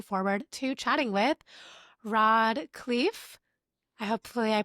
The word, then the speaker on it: Khleif: I'm your host, Michelle Kessle, and today I'm joined by someone that I'm really looking forward to chatting with, Rod Clee. I hopefully I pronounced your last name correctly.